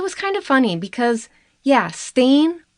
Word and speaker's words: Stehn: Both sides questioned him, and it was kind of funny because, Stain rhymes with crane, so sometimes during his testimony, the lawyers would accidentally call him Mr. Crane.